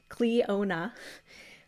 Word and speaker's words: Clionadh: on the other side it has the pronunciation so it's cleona uh and then the website